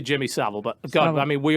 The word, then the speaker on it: Jimmy Savile: Do you pronounce it like Savile or Savile? Sav. Jimmy Sav. I've said that wrong forever. I heard it recently. Definitely Jimmy Savile.